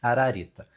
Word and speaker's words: Ararita: Essa palavra se pronuncia ararita.